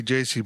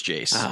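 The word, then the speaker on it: Jayce: do you pronounce it is it really J or is it Jace I don't it's Jace okay is it yeah I'd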